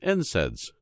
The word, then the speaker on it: NSAIDs: They also discovered that proteolytic enzymes are completely safe compared to non-steroidal anti-inflammatory drugs, or NSAIDs, pronounced NSAIDs, which is the most prescribed medication for treating conditions such as arthritis.